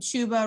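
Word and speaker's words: Chuba: just rolling with um shuba rhymes with tuba hubbard and um royce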